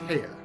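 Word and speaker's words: Haigha: happy his name is hea he pronounced it so as to rhyme with me I love my love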